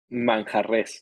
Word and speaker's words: Manjarres: Manjares. Did I pronounce it right? Manjares? Manjarres, yes. Manjares.